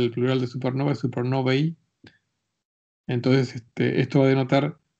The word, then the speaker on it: supernovae: usa en inglés, de supernova. En inglés, el plural de supernova es supernovae, o sea, supernovi, se pronunciaría en inglés.